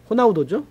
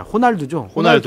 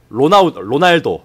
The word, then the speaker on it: 호날두: 생각도 좀 가졌어 어쨌든 호날두 호나우두 아니야 호날두 호죠 호날두 과거 발음으로 치면은로나 로날도 아 로날도 아 시절 호날두가 어쨌든네 번째 골